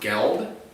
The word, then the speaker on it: gelled: You accidentally gelled your nails. Accidentally. How do you? I believe it's pronounced geld.